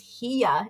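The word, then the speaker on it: hiyá: So in my language, in Lakota, how that's spelled is pronounced hiya, and that means no.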